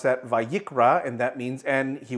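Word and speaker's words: וַיִּקְרָא: We pronounce that vayikra, and that means, and he will be called, or he will call.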